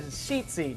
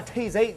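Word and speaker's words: tzitzit: they were visual reminders the word sheet c is spelled t z i z i so from some of y'all you might be saying that's a t z z no it's a cheat seed not a tase eight z and you see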